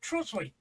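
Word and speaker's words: Trottiscliffe: That's how it's pronounced, though. Trosley.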